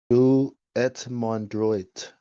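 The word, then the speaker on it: Dieu et mon droit: Do et mon droit. French pronunciation.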